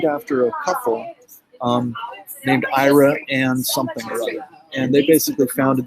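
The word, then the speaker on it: Iraan: a couple um named ira and something and they basically founded this town they're probably involved in oil but it's pronounced ira and texas not iran but we have just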